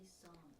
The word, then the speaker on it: Sawm: An Arabic word? Say psalm. It's Psalm.